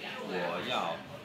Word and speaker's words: 我要: You can leave it whoah like whoa, and yeah like want in Chinese. And so what you say is whoah, yeah.